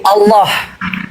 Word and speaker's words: Allah: Kalau secara teks teks dalam Al-Qur'an ya memang dia tulisannya Allah ya karena alif lam lam ha Allah. Nah, tapi kalau cara membacanya dia ee seolah-olah A itu ee bersuara O. Jadi Allah bukan Allah.